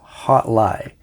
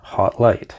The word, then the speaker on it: Hotligh: I'm pronouncing it wrong it actually is hot lie not hot light now with that out